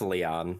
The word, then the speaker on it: Lion: is it's the kids it's pronounced Leon I used to call him lion as a kid but it's Leon yeah Leon is pretty